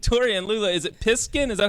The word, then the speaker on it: Piskin: Is it Piskin? Is that how you say it? Yes. Piskin.